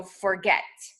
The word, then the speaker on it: forget: two syllables, like forget, it's the syllable that we hear more, that stands out more when we hear the word said aloud. So forget. The get part stands out.